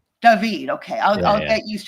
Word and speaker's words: Dahvid: Is it pronounced like ordinary David even though you've got the H in there? No, it's Davidided. Davided.